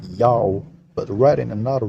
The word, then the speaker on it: Ya'oh: Therefore, it's read as Yao. And the last letter Ha is a silent letter again, still read Yao. His name is pronounced Yao, but to write in